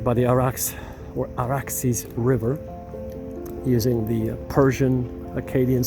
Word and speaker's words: Arax: village of Arax right by the Arax or Araxis River using the Persian Aadian Sumerian pronunciation.